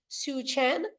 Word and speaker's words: Soochen: I'm celebrating our guest here today, Soochen. Did I say it right? Absolutely. Yes. Soochen.